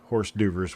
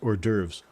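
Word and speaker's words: hors d'oeuvres: I could read it, but how could I possibly have known that horse doovers was actually pronounced or derves?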